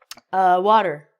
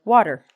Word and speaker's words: water: The next one, as I said in the beginning, water. A, E are vowels, and it's going to be said like water.